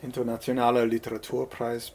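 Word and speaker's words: Internationaler Literaturpreis: you're gonna have to help me on the pronunciation Internationale Literature Prize International Literature Prize thanks very much okay and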